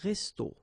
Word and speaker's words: resto: okay, but then, well, phonetically it's exactly the same, so un resto, okay, so whether with O or then with AU, but then it's resto, resto, the same way, okay, so un restaurant, un resto.